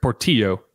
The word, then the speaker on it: Portillo: I think I said his name wrong that last time, so I'll correct it. Portillo for coming on. Got the 2 L's in there.